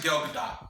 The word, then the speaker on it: Gal Gadot: It's because everybody thought it was Gadot at first, and I got it from Colliders. But it's actually Gal Gadot. So, Gal Gadot. So it's said how how it's spelled.